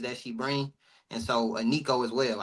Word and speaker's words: Iniko: And so Aniko as well. I hope I'm pronouncing it right, but it's spelled Iniko. Aniko.